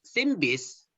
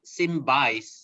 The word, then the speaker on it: SynBYSS: s s symbol young speaker cities cities it's simbis not simba or something else simbi in korean means mystery